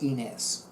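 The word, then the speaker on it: Ynez: And I discovered Café Inés. Inés is spelled capital Y, N as in Nancy, E, Z as in Zachariah.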